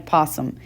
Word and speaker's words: opossum: time that we want just like opossum it has an O but the O is silent and we never say it alright so there's two